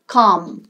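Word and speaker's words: calm: মূল ওয়ার্ড হচ্ছে কাম এর এল টা কিন্তু উচ্চারণ হবে না কি উচ্চারণটা হবে কাম কাম মানে হচ্ছে শান্ত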